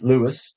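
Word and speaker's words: Luas: you just use the Lewis spelled l u a s Lewis Lewis is H it's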